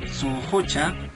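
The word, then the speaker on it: sunqucha: Bueno, estas expresiones se pronuncian de esta manera, sunhucha y sunhuchayay.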